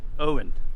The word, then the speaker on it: Eoghan: how you spell it owen over here is e-o-g-h-a-n but i like this